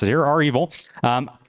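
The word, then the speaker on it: REvil: involving cyber Command right and you can ask our evil or Revel how we prefer to pronounce it here are evil um how that worked out for them and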